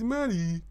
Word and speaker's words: Maru: It's Maru.